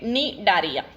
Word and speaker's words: Cnidaria: Coelenterata is the old name, new name is Cnidaria. C is silent, you have to read it Cnidaria.